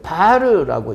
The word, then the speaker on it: VAR: 자, 무효전력인데 무효전력도 V 곱하기 I의 사인 세타로 하며 단위를 VAR이라고 하고 읽기를 바르라고 읽습니다.